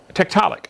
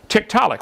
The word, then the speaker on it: Tiktaalik: show us one get comfortable said tick telic Tiktaalik that's how they pronounce it Tiktaalik well that was easy any other questions and